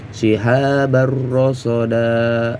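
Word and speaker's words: شهابا رصدا: Shihabar rasada ini dibaca tanwinnya dibuang ya. Tanwinnya dibuang namun dipanjangkan 2 harokat.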